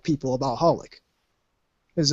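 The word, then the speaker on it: xxxHOLiC: because I know what I know what to do with the X you just don't pronounce it yeah like servant service Hunter Hunter H holic which Hol XXX holic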